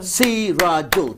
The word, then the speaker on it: Sirajul: Sirajul. Sirajul, 3 syllables.